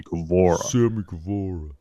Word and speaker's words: Guevara: it opened up with sami guevara taking on scorpio sorry i said it wrong sammy gavor tnt title just at the